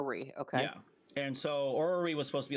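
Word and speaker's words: Aurory: looking at back a couple months ago called orrery um if you're familiar with or spell that a-u r-o-r-y um or were we okay yeah and so orally was supposed to be like a top-down uh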